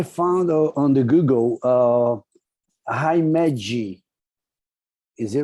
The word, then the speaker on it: Himeji: arizona has i found on the google uh himeji is it right hi meiji yep h i m e j i o himeji you don't know how to pronunciate what island is it what japanese island